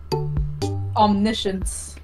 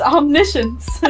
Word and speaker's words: omniscience: power what would it be uh superpower guys omniscience what I don't even know how to spell that I don't know what that is explain